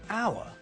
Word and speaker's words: hour: When we say hour, we don't pronounce the H at the start of the word. So the word sounds like hour. So it sounds like the first letter is a vowel, so we use un, not with hour.